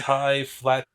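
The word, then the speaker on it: highfalutin: I said it wrong. It's high flat. FALUTIN. High flauten or whatever.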